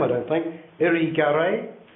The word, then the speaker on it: Irigaray: Would it be useful to consider, I can't pronounce the name, I don't think, Irigaray? Irigaray, yes.